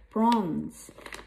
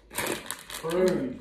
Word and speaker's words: prunes: And I also have prawns. Prawns is good for you, especially if you are constipated. Prunes, not prawns.